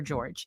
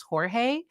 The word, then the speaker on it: George: want Justice for for George and for anyone that's knew he pronounced it George versus Jorge and that's what his that's how his family refers to him and um sometimes that's